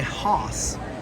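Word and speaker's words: Haus: pinoc village house uh spelled the the German Way so I like to say hos I think that is maybe how you say it you're supposed to say it anyway 48 is right there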